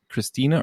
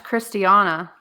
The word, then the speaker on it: Christiana: Is it Christina or Christiana? Oh, don't say Christina. It's Christiana.